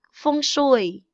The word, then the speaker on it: feng shui: Mandarin, like feng shui.